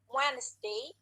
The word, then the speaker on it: Wednesday: Wednesday, jadi D-nya hilang. D-nya maksudnya tidak diucapkan.